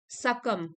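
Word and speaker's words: succumb: जा सके एडजेक्टिव है यह सकम बी साइलेंट है सकम मींस हार मान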